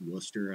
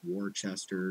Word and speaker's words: Worcester: Like, I don't even know that Worcester is pronounced Worcester. I thought it was Worcester.